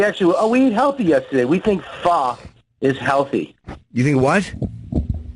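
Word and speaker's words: pho: Oh, but it's not pronounced. Not Japanese. It's not It's um Well, it's f. It's not faux people call, but it's really fo is what people You can call it fo, but it's really called fa.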